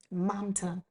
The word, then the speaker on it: Mamta: is I just want to make sure I'm pronouncing it correctly. Mamta Bhatt, Mam Mamta, excuse me, Mamta Bhatt.